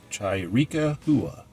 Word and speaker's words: Chiricahua: I think it's pronounced Chiricahua. Actually, I thought it would be Chiricahua, but I did look it up, so we said it right.